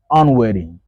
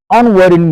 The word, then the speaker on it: unwitting: and then we have the Double T between two Vel sounds so in American English that t changes we don't say weding we say wedding wedding unwedding unwedding means I'm not aware